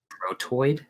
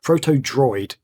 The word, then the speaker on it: Protodroid: I've completely mispronounced that. Proto Droid. What did I say? Proto. Jesus Christ. Protodroid. You guys got that Protodroid?